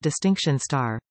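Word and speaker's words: Distinction*: pass merit distinction and distinction asterisk pronounced distinction star a BTEC level one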